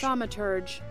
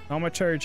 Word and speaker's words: Thaumaturge: Thaumaturge. Thaumaturge? Is that actually how you say it? Thaumaturge. Thaumaturge. Yes. Thaumaturge. Okay. Thaumaturge is the purported capability.